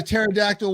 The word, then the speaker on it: pterodactyl: want to wear the pterodactyl was I hear a pterodactyl going to the bathroom why because the p is silent bye man this is